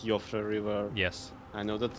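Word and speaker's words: Siofra: I know that it's not Sephora River, I know that it's Yofra River.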